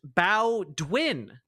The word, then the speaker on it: Bowdoin: Bowdoin is pronounced Bowdwin.